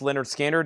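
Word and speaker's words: Lynyrd Skynyrd: Here's Leonard Skard, pronounced Leonard Skard.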